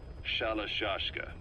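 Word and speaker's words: Shalashaska: somewhere along the line, Shashka got stuck on the end of Sharashka. The guerrillas were using the name amongst themselves, and by the time I got to hearing about it, pronunciation had wound up as Shalashashka.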